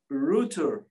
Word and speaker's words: Rútur: Rútur.